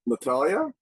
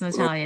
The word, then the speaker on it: Natalia: I see someone I haven't met yet, Natalia, or is that how I pronounce it? Yes, indeed. You got it right. And no one does. Nice Thank you. It's Natalia.